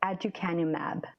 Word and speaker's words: aducanumab: All right, and tell me again how, if people want to Google it, how to pronounce that drug. It is called aducanumab.